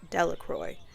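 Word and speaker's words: Delacroix: Jones and Dicky Delroy The Village pronounced it Delroy eventually made a great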